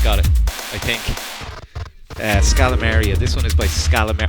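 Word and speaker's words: Scalameriya: There, Scalamaria. Got it. I think. Scalamaria.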